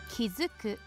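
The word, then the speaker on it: 築く: something to construct something kizuku kizuku that's a new one so by the so by itself this would be chiku but kizuku as a verb H incur what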